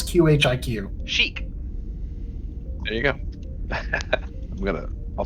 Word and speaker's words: Qhiq: How do you pronounce QHIQ? Chic.